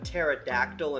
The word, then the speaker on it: pterodactyl: Tyrannosaurus Rex number three why can't you hear a pterodactyl in the bathroom cuz the P is silent number four what does